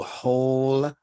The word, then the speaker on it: whole: we have the word whole that has the HL sound I know it begins with a W but the W is silent isn't it so whole and holistic which does